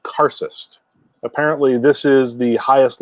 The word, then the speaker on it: karcist: the sorcerer who controls the demons it's called karcist apparently this is the highest level of adept